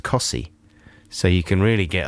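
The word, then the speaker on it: Costessey: very near wymandum that's spelt costessie and it's pronounced cossie so you can really get a lot of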